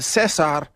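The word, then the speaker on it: César: in a minute, but Caesar, whatever you want to call him, in Espanol, you would pronounce it Cesar.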